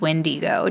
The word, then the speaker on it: windigo: well she said that the uh most likely pronunciation from the original version is windigo w n d g o but it is